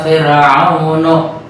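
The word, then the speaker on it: فِرْعَوْنُ: Kalimat fir ini tarakik huruf ra. Kenapa bisa begitu? Karena huruf ra sukun sebelumnya kasrah. Maka salah satu cara membacanya dibuka mulutnya. Fir tipis. Wajah Fir'aunu. Kalau fir kan beda lagi bunyinya. Fir kalau dimonyongkan Fir'aunu. Nah, kan berbeda.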